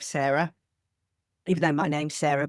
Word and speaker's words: Cera: It's spelled C E R A like the brain version of Sarah.